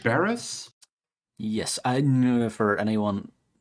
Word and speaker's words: Berez: Barris? Yes, I know for anyone watching at home, if there is one person, I may be butchering that. It's Berez. Is how it's spelled. Berez.